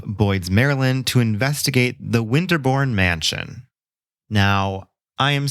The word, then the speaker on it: Winderbourne: But through my research, I have my suspicions that it is actually supposed to be pronounced Winderbourne, even though that doesn't really quite roll off the tongue or make any phonetical sense whatsoever.